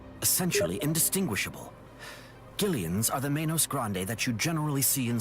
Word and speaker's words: Menos Grande: That's how it's actually pronounced, but Manos Grande.